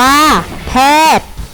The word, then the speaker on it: แพทย์: อ่าน ว่า อาจารย์ แพทย์ อ่าน ว่า แพทย์ อื้อ อื้อ สัตว์